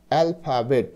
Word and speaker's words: alphabet: বর্ণমালা এ এল এল পি এইচ এটার উচ্চারণ হবে ফা অ্যালফা বি ই টি বেট অ্যালফাবেট মানে বর্ণমালা তো দেখো